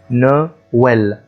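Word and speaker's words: Noël: النقطتين اللي بيكونوا موجودين فوق الحروف واشهرهم طبعا حرف الاو وحرف الاي، وتجعل الحرف المتحرك الذي يسبقه ينطق منفصلا عنه، زي ما بقول سعيد، ما إيس، نويل.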